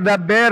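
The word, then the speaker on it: דַּבֵּר: Jadi pronunciation-nya harus jelasin dapar atau deper supaya jelas. Ada orang di sini. Dabber boleh, dabber.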